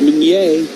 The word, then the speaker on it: Meunier: Kurt Meunier. I think we got it now. I think we're on it. Rhymes with sun play. Certainly not Sunday.